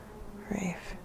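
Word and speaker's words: Reif: And how would you spell that? No. Rafe. R-E-I-F. Rafe.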